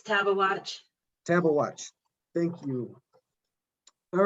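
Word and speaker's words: Tabeguache: is either grizzly or badger moose pass or tabagawatch pass did i pronounce that correctly it's taba watch table watch thank you all right so to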